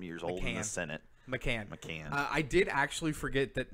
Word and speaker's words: McCann: Escobar, McCain, Nagby, who I totally not McCain. He's not 60-something, 70-something years old in the Senate. McCann.